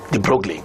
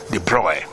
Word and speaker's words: de Broglie: of this petty many of us call him de Broglie which is actually pronounced deploy deploy I put the size that if light